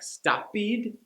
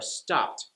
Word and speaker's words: stopped: Spanish speakers will also add the "ed" sound to every ED ending, whether it fits or not, like "stopid" or "wished."